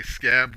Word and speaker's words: Skaab: I say Scab with a long A because it's SKAAB.